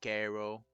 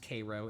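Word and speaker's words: Cairo: in Illinois without bringing Ko or is it is it pronounced that way? No, it's it's it's pronounced Cro.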